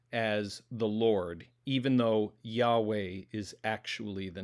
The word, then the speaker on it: Yahweh: The most authentic pronunciation for which would be something like Yahweh. Over the years, certain Bible translations have misrepresented this form as Jehovah.